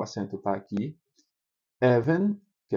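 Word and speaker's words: אבן: Você tem essa daqui que o acento é na penúltima sílaba. Meller, o rei Meller, o acento tá aqui. Even, que é pedra, even.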